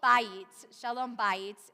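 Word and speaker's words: בית: Beit, that's really pretty much it. Shalom bayit, and beit is another way that we often, depending on the context, it is pronounced that way sometimes too.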